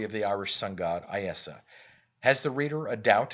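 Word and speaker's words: Íosa: Christ in his native tongue, pronounces it Iesa Christ, unconscious of the fact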